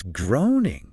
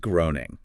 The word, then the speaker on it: Groening: It's groaning, yes. rhyming with raining, Oh, good point. not groaning.